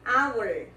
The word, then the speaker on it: hour: Horas, também em português H é mudo, em inglês também, hour, hour.